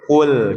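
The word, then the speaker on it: قل: KL qul jangan kul jadi tebal nantinya ya. Karena huruf qof itu huruf yang tebal.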